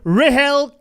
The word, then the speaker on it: Rahel: perfect so it's spelt it's basically is it rachel without the c yes exactly right okay i want to